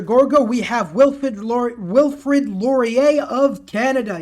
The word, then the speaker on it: Laurier: we have wilford wilfrid laurier of canada yes it is pronounced laurier i know my french the last best west